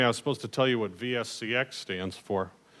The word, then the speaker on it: VSC-X: to tell you what vsex stands for it's a virtual serial cable extended actually I did that to rhyme with TNC x which is the other product